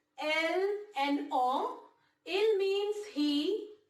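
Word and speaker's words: elles: We pronounce them as il and elle only.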